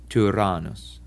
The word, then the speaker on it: Tyrannus: French word tu or in the German über. This vowel was borrowed from the Greeks and is often used only in Greek words in place of the upsilon. Apparently, Latin speakers also had problems pronouncing this vowel correctly, and its sound changed to more like an E. Nevertheless, we should try to pronounce it in the classical way. So, Tyrannus.